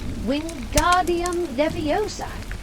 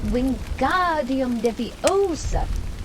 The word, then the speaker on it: Wingardium Leviosa: Wingardium Leviosa, he shouted, waving his long arms like a windmill. You're saying it wrong, Harry heard Hermione snap. It's Wingardium Leviosa. Make the ga nice and long.